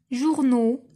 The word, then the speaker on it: journaux: Journaux, la même chose, واش نطقت X à la fin? non دونك حتى هي غادي نطوريها.